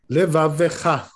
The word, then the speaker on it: levavecha: So the truth is, the proper way to pronounce this word is like this. Levavecha. Sounds like a Vav, no? Yes, levavecha. Okay. Thank you. With that particular stress, right? Not levavecha. So levavecha.